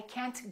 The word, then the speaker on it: can't: can or can't because very often Americans don't say I can't go in fact they say I can't go I can't go they just hold the T I can't do it